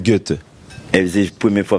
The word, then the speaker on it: Goethe: Non, pas parler allemand, non, mais toute ma vie, j'ai prononcé Goethe. C'est Goethe.